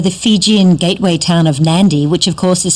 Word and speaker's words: Nadi: Fijian gateway town of Nadi, which of course is spelt N-A-D-I, but in Fijian the D is pronounced as an N-D, as in candy, so Nadi candy.